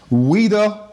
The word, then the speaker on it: Ouida: Ouida Walls. The Ouida is O-U-I-D-A. I will always have to clarify that it's French, so the O is silent.